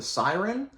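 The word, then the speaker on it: Sirin: by Nicholas Kotar called The Song of the Siren. I think that's how you pronounce it. It's S-I-R-I-N.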